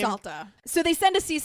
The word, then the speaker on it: Salter: Salta.